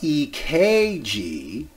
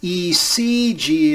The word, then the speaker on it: ECG: Oftentimes you hear people say what? EKG, using the old German spelling of cardiac. That's actually out here in the 21st century. ECG is the correct way to say it now. But you'll find people a little bit more ancient, like myself, who will still say EKG. But ECG is better.